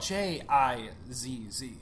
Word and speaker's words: jizz: you spell it just to make sure we're pronouncing it for our listeners out there that spelled J i ZZ jizz as opposed to you don't want to